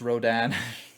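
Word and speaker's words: Rodin: It was more a case of like uh uh it's pronounced Rodan even though there's no a in it.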